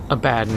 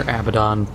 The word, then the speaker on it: Abaddon: but they ended up calling Abaddon or Abaddon, once again, depending on how you pronounce it. I've heard it both ways, so we'll go with Abaddon because that's what I hear the most when it comes to 40K.